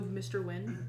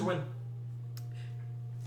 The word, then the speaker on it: Nguyen: I'm saying it's pronounced Win.